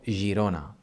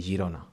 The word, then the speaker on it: Girona: And if we have the G plus I or E, G més E, I, then it sounds G, gerent or Girona, like the Catalan city Girona.